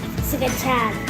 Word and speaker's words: scacciata: Scacciata. Say it like real Italian, like Scacciata.